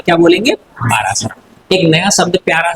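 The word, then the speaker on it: पराशर: हाँ, पारासरा। अब देखो इसमें इंग्लिश में पारासरा बोलेंगे हम, और हिंदी में क्या बोलेंगे इसको, पारासर, है ना। हिंदी में पारासर बोलेंगे और इंग्लिश में क्या बोलेंगे, पारासर।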